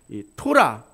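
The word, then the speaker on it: תורה: 히브리어로 모세오경을 가리키는 토라, T자 발음이죠.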